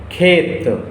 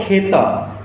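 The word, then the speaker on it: खेत: So the pronunciation would be khet, khet, not kheta, because you know that if a word ends with the consonant, we don't pronounce the inherent vowel of that particular consonant. So this would be wrong to pronounce kheta. We were saying khet.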